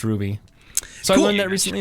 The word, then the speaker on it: RWBY: hey uh i just found out that it's pronounced ruby merlin not rwby i actually saw something about